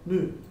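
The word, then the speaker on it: ν: So, how you pronounce this letter? Nu.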